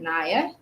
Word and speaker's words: Nia: spell nia in ia but i pronounce it naya um and you'll see